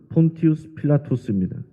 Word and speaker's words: 본디오 빌라도: 본디오 빌라도의 원래 발음은 폰티우스 필라토스입니다.